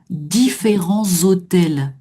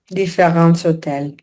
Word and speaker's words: différents hôtels: Et donc, hôtel H muet. Donc, on va faire la liaison. Différents hôtels. Différents hôtels. Voilà, qui est obligatoire ici, puisque mon adjectif est devant le nom.